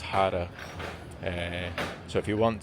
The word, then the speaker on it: jarra: J A R A but pronounced Jarra.